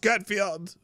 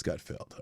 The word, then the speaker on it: Gutfeld: OH, I DON'T WATCH GUTFIELD. Failed field. It's Gutfeld.